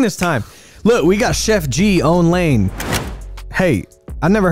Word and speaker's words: Sheff G: don't know anything about Chef G and it's spelled s h e FF so he doesn't cook you know what I'm saying